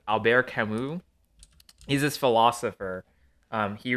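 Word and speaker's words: Albert Camus: say his name correctly cuz he's French uh Alber kamu spelled Albert CIS if you said it without a French accent Alber kamu he's this philosopher um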